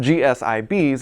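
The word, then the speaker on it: G-SIB: The Federal Reserve came down on GSIBs this week, and I'm pretty sure it's probably pronounced GSIBs, and it stands for Global Systemically Important Banks.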